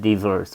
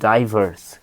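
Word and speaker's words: diverse: ভি আর এস ই ডিভার্স বা ডাইভার্স এর দুটো উচ্চারণ হয় ডিভার্স বা ডাইভার্স ডাইভার্স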